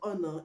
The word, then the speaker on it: honor: The H in front of honor is not pronounced. Vehicle, the H in vehicle is not pronounced.